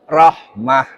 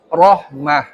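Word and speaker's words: رحمة: Nah, arunnya betul tapi rahmah itu tipis. Rohmah. Roh ya, rohmah. Iya, ya. Nah, ini yang karena kebiasaan kita membacanya itu tipis. Ya, rohmah. Dan ini harus menjadi sesuatu yang refleks ya. Jadi tidak usah dipikir pokoknya nek roh fathah, roh domah, roh fathah sebelumnya domah itu dibaca tebal.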